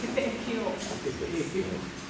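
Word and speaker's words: Pepeʻekeo: If you've lived here in Pepe'ekeo for a long time, you should know the right way to say it is Pepe'ekeo.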